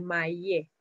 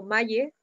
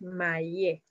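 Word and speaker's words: malle: Recuerden que en ese caso se pronuncia esta doble L, que vendría siendo más, la lengua se pronuncia más atrás, traten de poner mayé. No es como maye, sino que es mayé.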